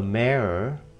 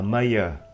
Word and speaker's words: mayor: Đừng đọc là mayor, mà đọc là mayor, chữ e và chữ r các bạn nha.